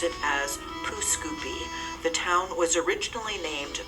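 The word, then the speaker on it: Pouce Coupe: This town sounds like it should be the French pronunciation for cut thumb, but you would be wrong. Most pronounce it as Pooscoopi.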